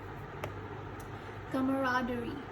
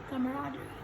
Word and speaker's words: camaraderie: Camaraderie. So you remove this E and then pronounce it. Camaraderie.